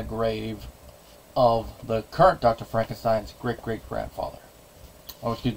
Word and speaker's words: Frankenstein: he does that is changing the pronunciation instead of Frankenstein it's Frankenstein tries to distance himself